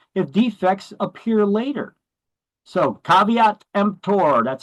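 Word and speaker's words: caveat emptor: has little recourse if defects appear later so caveat empor that's how you pronounce that term in Latin it's not pronounced KV tempter it is caveat empor it means let the buyer beware see we're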